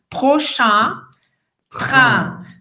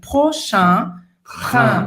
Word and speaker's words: prochain train: Então, para começar a treinar esse som, você pode simplesmente botar o dedo no nariz, porque esse som ele vai ser feito aqui, nessa parte central do nariz, tá? Prochain train.